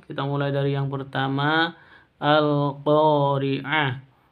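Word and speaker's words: القارعة: Sahabat-sahabat pencinta Al-Qur'an, kita mulai dari yang pertama, Al-Qari'ah. Di sini ada kata alif lam, ada tandanya sukun. Berarti ini bacaan al-qamariyah atau izhar qamariyah. Bacanya jelas, jangan didengungkan.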